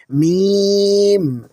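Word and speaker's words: ميم: মিম। মিমের মাখরাজ হলো দুই ঠোঁটের শুষ্ক বা বাইরের শুকনো অংশ থেকে। যখন আমরা এটি উচ্চারণ করব, আমাদের দুই ঠোঁট খুব স্বাভাবিকভাবে বন্ধ হবে এবং খুলে যাবে।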